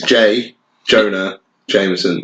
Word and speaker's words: J. Jonah Jameson: I can't pronounce J. Jonah Jameson. J. Jonah Jameson. I mean, it's really easy. It's J. Jonah Jameson.